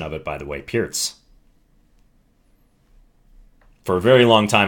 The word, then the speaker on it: Pirc: what it says so this is the pierce defense yes that's the correct pronunciation of it by the way pierce for a very long time in my chess career i thought it was perk probably up till low master until someone corrected